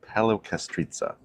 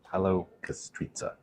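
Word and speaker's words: Paleokastritsa: But our first stop will be Paleo Kastritsa. That's how you pronounce it. Paleo Kastritsa.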